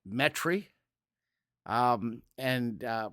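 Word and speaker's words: Metairie: go up to metri that's how the locals call it metry put that southern inflection on yeah if you look at it on a on a it it if you look at it how it's spelled it's mety but metri um and uh right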